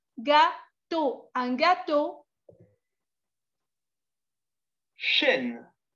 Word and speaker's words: gâteau: La E, la A y la U se pronuncian O.